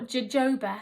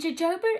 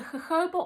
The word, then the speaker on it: jojoba: tropic smoothing cleanser has golden jojoba oil or jojoba as i was inc correctly pronouncing it for a long time and jojoba is special jojoba is